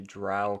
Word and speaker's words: drow: Uh oh, Skywill, I believe drow rhymes with cow.